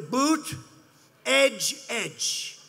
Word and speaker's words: Buttigieg: touch and they said here's what you do boot edge edge say edge like the edge of a building edge edge Buddha judge Alfred E